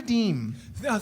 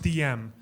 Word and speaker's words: Deem: Please give it up for Deem. Thank you so much. Thank you. It's actually pronounced DM.